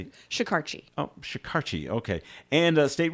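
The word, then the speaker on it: Shekarchi: Senator Jack Reed, along with the Speaker of the House, Shikarshi? How do you say it? Shikarchi.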